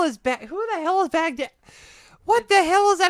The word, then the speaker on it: Baghdad: Anyway, and then somebody brought up Baghdad. Who the hell? No. Because she said when she was trying to talk about Baghdad, she was pronouncing it Baghdadi, not just once as a mistake.